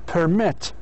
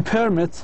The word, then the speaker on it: permit: In other words, stress should be on the second syllable for the verbs, but on the first syllable on the for the nouns and adjectives. مثلا هذا الفعل نفس هذا permit.